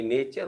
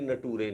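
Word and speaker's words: nature: लेकिन ये फ्यूचर ही होता है, ये फटूरे नहीं होता है, और ये नेचर होता है, ये नटूरे नहीं होता है, ठीक है।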